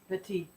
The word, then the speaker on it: Petit: By the way, it's a good thing he's French because that last T is silent. Philippe Petit. Petit. Yes. Petit.